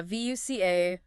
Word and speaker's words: VUCA: Yeah, VUCA, it's pronounced VUCA, and it stands for